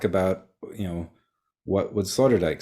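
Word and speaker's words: Sloterdijk: because even the name might be hard to spell it's s-l-o-t-e-r-d-i-j-k Slaughter Dyke and uh Dutch born if you're wondering like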